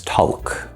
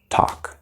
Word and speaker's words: talk: some example words talk so many English learners try to pronounce this talaq talaq okay there's no L there absolutely no L it's two plus o plus talk three sounds we also have walk